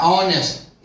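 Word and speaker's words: honest: अब ऑनेस्ट का उच्चारण हम कर रहे हैं, ऑनेस्ट उच्चारण यहां से हो रहा है, ऑनेस्ट।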